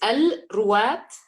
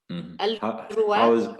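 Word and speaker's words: Al-Rowat: Could you clarify the name of that organization you worked with and spell it out so we can figure out what it is? It's Al-Ruwat, which means narrators in English. Al-Ruwat.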